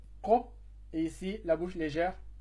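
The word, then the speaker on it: قاف: Ici, se prononce la bouche pleine, donc c'est ko, et ici, la bouche légère, que.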